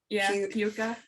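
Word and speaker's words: Púca: Well, there's it's also spelled in different ways, like P with the U over at CA, which does look more like Puka. But also Pooka.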